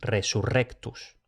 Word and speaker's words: resurrectus: Y también se pronuncia fuerte cuando aparecen dos Rs, como en resurrectus.